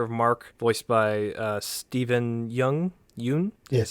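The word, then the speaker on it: Yeun: I wasn't big on some of the voice acting at first, with the character of Mark, voiced by Stephen Yoon?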